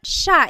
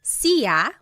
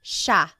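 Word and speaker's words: siya: so it's just you by yourself one person sha means he or she and I want to point out that sha is gender neutral that means you have to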